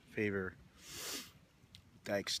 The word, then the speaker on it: Faver-Dykes: got the name right I think it's called favor I mean pronounced favor dykes the state park another